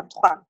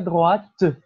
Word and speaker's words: droite: On a tourné à droite. Je ne connais pas le nom de la rue, mais il y a un café au coin. Oui. On a tourné à droite. C'est nécessaire de prononcer le T.